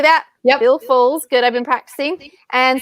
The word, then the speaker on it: Foles: We're going to be giving away God's Voice, His Message, His Messenger by Bill Foles. Is that the right way to say that? Yep. Bill Foles.